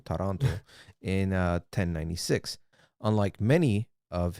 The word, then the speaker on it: Taranto: Yes, and his journey in the Crusades began when he joined his uncle, Bohemond of Taranto, not Toronto, Taranto, in 1096.